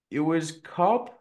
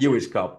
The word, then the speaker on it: Ewers-Cobb: do this but normally I ask for the pronunciation of the person's name and I'm GNA just go with this Cynthia you was cob yeah nearly nearly you as CB yeah you is CB you doie cool um and as I always